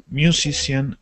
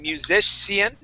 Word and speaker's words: musician: that c and saying musician okay that c i is actually gonna make an sh sound so we say musician